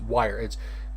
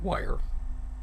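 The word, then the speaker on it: Wyre: Tales of, and I don't know how to pronounce this, Wire. Here, I'll type it in. W-Y-R-E, Wire.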